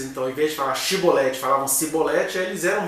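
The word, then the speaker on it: Shibboleth: Aí tinha duas pronúncias. Ou era Shibolete, e aí seria um gileadita, ou era Sibolete. Então, era alguém se fazendo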